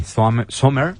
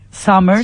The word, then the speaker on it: Sommer: Saludamos a la doctora Sommer. ¿Está pronunciando bien, doctora? Bien enfrente, recuérdeme, acá. Perfectamente. Bueno, Sommer, porque ya dijimos Summer es... No, sería con U. ¿Eh? Summer sería con U y es Summer porque es con O.